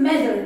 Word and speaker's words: matter: Bu arada İngilizce'de iki T yan yana gelince Diyarbakır'ın D'si gibi okunur. It doesn't matter.